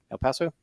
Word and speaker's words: El Paso: El Paso?